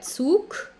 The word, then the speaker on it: Zug: Der Zug.